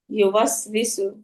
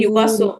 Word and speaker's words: يوسوس: ইউওয়াসবিসু। হুম, নষ্ট করতে থাকেন আপু, পরি আপু। জি আপু, আরেকবার বলি। الذي يوسوس في صدور. ইউবাসু এইভাবে হবে না। আল্লাযী ইউওয়াসবিসু।